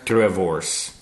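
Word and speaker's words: droëwors: How do you pronounce that one again? Drivors. Wasn't even getting that correct.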